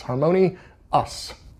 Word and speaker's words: HarmoniOUS: the new harmonious and I say it like that because it's the word harmonious except the last two letters are both capitalized so it's harmonii us just so you know